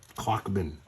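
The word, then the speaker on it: Klochman: It's spelled K L O C H M A N. Clockman.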